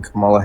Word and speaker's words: Kamala: I think that overall he was a better candidate than Kamala Harris and That's how you pronounce her name.